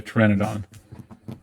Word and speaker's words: pteranodon: So, uh, you can write in your notes that you studied a pteranodon. The P is silent.